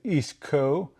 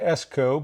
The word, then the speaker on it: Eastco: used to work with Eastco and he I always pronounce it esco but he gave me a proper understanding. It's Eastco.